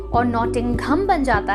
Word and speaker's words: नॉटिंघम: देख सकते हैं और कहते हैं हम नॉटिंघम लेकिन इसकी सही प्रनंसीएशन है नॉटिंघम नॉटिंघम जहां पर जो है वह साइलेंट होता है और नॉटिंघम बन जाता है चलिए